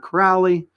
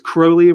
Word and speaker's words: Crowley: him alistair crowley not crowley he says crowley rhymes with holy that's that's what he